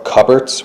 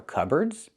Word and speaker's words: cupboard: So, the P is silent.